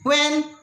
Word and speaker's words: when: डब्ल्यू के बाद आने वाला एच प्रायः मूक होता है, साइलेंट होता है, उसको नहीं बोला जाता है। जैसे व्हाट, where, whose, when, तो एच को प्रोनाउन यहाँ नहीं करते हैं, इतना ध्यान रखिएगा।